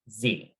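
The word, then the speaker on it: xe: talk to everyone about this is z so it's spelled with an x but said like the letter z this is a very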